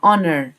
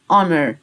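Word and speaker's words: honor: او فخر يعني اونر الاتش في الاول مش هنطقها اونر اونر انذار الحريق اسمه فاير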